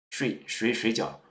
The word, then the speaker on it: 水饺: For instance, you can say, my waiter, how much is 水饺? Shujiao means dumplings. But suppose you are a learner of Chinese, then your pronunciation is not very good. You may say 睡觉.